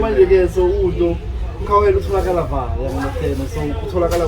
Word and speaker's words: Khauhelo: Yeah, so Khauhelo so yeah, Khauhelo still pronounced the same, but with an H, so it's KH.